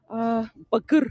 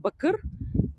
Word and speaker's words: bakır: Bakır. If you see the word bakır, probably you see it. It's written like bakir, but it's pronounced bakır.